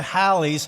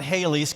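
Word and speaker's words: Halley: years or so and we often mispronounce his name when we refer to Hal's not Haley's Comet it's no wonder that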